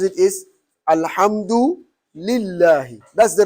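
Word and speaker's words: الحمد لله: malaki yaomi did ah you hear some people say al-hamdu dillahi al-hamdu dillah yes that's wrong totally there is no any kira that will read it al hamdu dilla no the right way to pronounce it is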